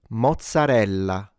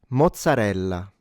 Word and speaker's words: mozzarella: This is pronounced mozzarella. mozzarella mo zza re lla mozzarella Notice it's not mozzarella. There is a double z, which is pronounced as a ts but stronger {slash} longer.